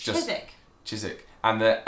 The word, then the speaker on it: Chiswick: Chiswick is like spelt like Chiswick. Like Southwark, almost. Southwark. So Chiswick Park is the name of the stop. Yeah. Chiswick. It's just Chiswick.